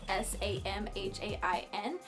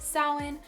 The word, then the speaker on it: Samhain: but it's commonly pronounced soin salween so in saw Wynne saw tween it's just like all over the place and it's not pronounced how it's spelled so just just so